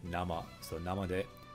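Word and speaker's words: 生: the kanji for live but when it's by itself like this it can also mean raw and you pronounce it na ma so now I'm one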